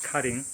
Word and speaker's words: Karin: room called cutting in english it's spelled k-a-r-i-n pronounced cutting and so let's take a look this is